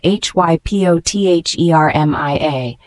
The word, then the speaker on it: hypothermia: low blood sugar levels the word hypothermia spelled h y p o t h e r m i a is a noun it is pronounced hypothermia this word means dangerously low body